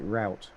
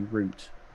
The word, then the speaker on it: route: you can't pronounce it route it has to be root oh that's where that's where that word comes from that's the early 13 Century apparently which yeah saying yeah we say root not route okay yeah that's that's